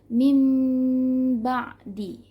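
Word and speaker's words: مِن بَعْدِ: mati bertemu ba Hai min ba'di min ba'di kita balik nun sukun menjadi Meme jadi mimba'di nah cara bacanya biasanya banyak-banyak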